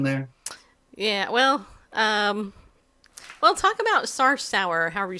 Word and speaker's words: Sarsour: Yeah, well, talk about Sarsour, however you say that woman's name. Because somebody's just said that. Sarsour? Yeah. Like sewer? Yeah. Okay. One syllable, though. Sarsour. Sarsour.